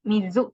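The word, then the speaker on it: 水: Ini 789 adalah ini 7, ini kanji mizu yang artinya air. Mizu dan sui, cara bacanya ada 2. Mizu, kunnya itu mizu, onnya itu sui.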